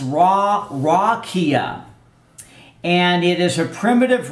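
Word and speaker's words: רקיע: dictionary it's the Hebrew seven five four nine pronounced raw rakia and it is a primitive root means to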